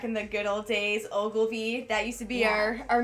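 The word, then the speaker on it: Ogilvie: It's Ogilvy. Yeah. Ogilvy? Ogilvy. Yes. The train station. The train station. The train station. Anyway, it was so good. Back in the good old days, Ogilvy, that used to be our main transportation to the city.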